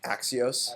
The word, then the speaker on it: Axios: Axios.